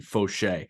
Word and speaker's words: Faucher: And I looked up the pronunciation, Faucher.